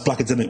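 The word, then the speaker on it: Blakademik: comom um that's black adic with a k no C so b l a k a d e m i k it's spelled different but um I've got to spell it out because people always put it in as it sounds which makes sense um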